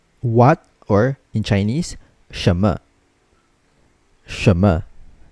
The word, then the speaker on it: 什么: 什么. Okay, so when reading 什么, remember that the letter N is silent. So we don't really read the letter N, although it's still written when you write the pinyin.